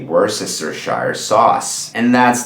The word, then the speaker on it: Worcestershire: We know the ending shire from New Hampshire, for instance. Tending to pronounce it as shire is not a bad guess. And the first part of the word, which looks like Worcester, is actually just Worcester. Worcester. So it goes Worcestershire sauce.